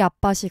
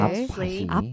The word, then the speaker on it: 아바시: 하셨던 봉준호 감독님께서 주목한 차세대 감독인 이 알리 아빠시 감독의 작품이라는 걸 보고 발음을 잘해주셔야 됩니다, 감독님. 알리 아바시 감독님, 네. 네, 아바시. 아빠시가 아니라 아바시 맞습니다.